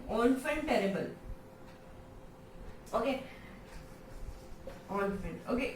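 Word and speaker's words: enfant terrible: हैं नेक्स्ट जो है ऑनफेंटेरेबल। ओके, ऑनफेंट, ओके, ये एन अगर हम ऐसे पढ़े तो एनफेंट पढ़ा जाता है ना, बट नहीं, इसका फ्रेंच में इसका प्रोनाउंसिएशन क्या होता है, ऑनफेंटेरेबल।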